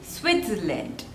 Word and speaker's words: Switzerland: Switzerland. Switzerland. So there are 3 syllables. Switzerland. And the stress is on the first one.